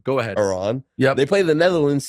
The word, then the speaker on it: Iran: to be a jerk Iran Iran and it's only because some of the Iranian journalists and players have been upset that people have been mispronouncing it so Iran go ahead Iran yeah they play the